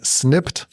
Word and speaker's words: Snipd: So, the best is to open up your phone, go to the App Store or Play Store and type in snipped. It's spelled S N I PD and you will find our app.